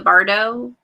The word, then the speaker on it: bardo: ireland and i'm also reading lincoln and the bardo bird is that did i say it right yeah bardo okay as soon as those finish i'm reading